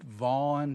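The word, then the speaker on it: Gant: The last name is spelled G-A-N-T, but it's actually pronounced Vaughn for those of you who...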